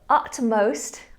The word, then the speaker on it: utmost: I don't hear that word as often, but utmost I hear regularly. So make sure you're saying ut with a T, not up with a P.